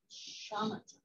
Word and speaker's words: Shamatha: And am I pronouncing Shamatha? Shamatha.